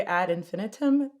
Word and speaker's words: Ad Infinitum: it was that way so if i say add infinitum yes yes okay yeah but there's a large